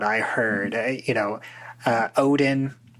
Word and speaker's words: Odin: heard you know uh Odin is um you know the D is pronounced more like a th and and there's a a heavier Accent on on the end so it's more more like outon wow and uh like